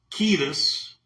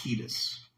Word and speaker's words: Quietus: Despite the calming implications of his name, Quietus, let me spell that for you, Q-U-I-E-T-U-S. Quiet with us at the end, quiet. But it's pronounced Quietus.